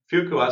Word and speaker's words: Fuqua: Is it Duke of Fuqua School of Business? That was excellent. Yes, the Fuqua School of Business. After JB Fuqua, it sounds like a French name, but he's a gentleman from North Carolina, where the school sits.